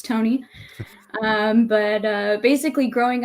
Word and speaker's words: Tonie: name is tony uh i spell it with the ie at the end it's not tawny it's tony um but uh basically